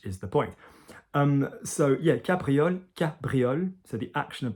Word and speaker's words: cabriole: Cabriole. Cabriole. Doesn't really go too wrong in the pronunciation.